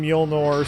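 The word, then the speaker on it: Mjölnir: talk about the hammer specifically yes they mentioned mule nor specifics that's how they pronounce it I've always curious about the pronunciation of this thing how was pronounced mule nor we all know something is something like that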